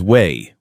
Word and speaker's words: Wei: His name is Wei, one syllable.